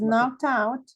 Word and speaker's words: knocked out: Bueno, la expresión se pronuncia knocked y pegamos este sonido con el que sigue. Entonces, como este termina en T, es como si fuera una sola.